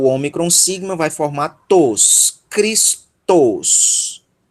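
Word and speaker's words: Χριστός: E o tal ômicron sigma vai formar tos, Cristos. Cristos. Que a palavra é tal qual no português nós pronunciamos tal qual no grego, com exceção do sigma final, tá? Mas o restante da palavra é exatamente igual, ok?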